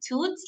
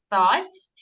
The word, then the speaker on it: thoughts: uh discussing or thoughts we don't say toots like thoughts or insightful but these